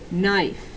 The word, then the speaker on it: knife: is knife knife and remember this one has a silent letter in it at the beginning knife if you hear it in knife put it right over here if you hear i in knife put it right over here knife okay and that secret silent letter is k just sort of snuck onto the